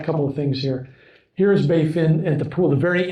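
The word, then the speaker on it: Baie Fine: It's called Bay Fin. It's French. But anyway, spelled funny, but it's Bay Fin is how you pronounce it.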